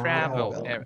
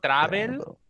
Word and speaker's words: travel: Travel. It's not travel, if you pronounce it like that. Travel, travel.